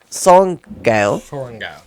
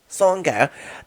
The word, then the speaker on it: Sorrengail: said to them, the youngest, how do you pronounce the last name? Sorrengail. Sorrengail.